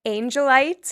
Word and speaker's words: Angelite: Our friend Drew from Angelite. Is that how you pronounce it correctly? Yeah, thank you.